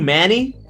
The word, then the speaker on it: Manny: him manny is that how your name is pronounced or am i doing incorrectly you you are doing it perfectly yeah yeah manny that's my name uh my my real